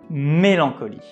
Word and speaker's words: mélancolie: It's mélancolie. Whenever you see an accent on the letter E, know that we pronounce it as E. It's not E, it's E. Another difficulty is the nasal sound EN.